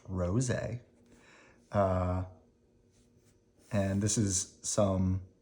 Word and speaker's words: Roget: is a picture of Peter Mark Ros pronounced Ros uh and this is